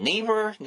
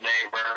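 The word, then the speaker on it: Naver: Is it Never, N-E-V-E-R? I always pronounce it neighbor. If it's pronounced never, I don't know.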